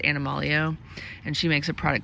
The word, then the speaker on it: Animalio: It's Animal EO, so stands for Animal Essential Oil, pronounced Animalio.